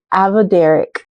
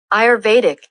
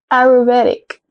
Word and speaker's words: Ayurvedic: I used what was called the Avederic routine. Avederic, is that right? Pronunciation. Guys, it's been so long since I've done that, so let's pronounce it. Ayurvedic. Ah, Ayurvedic.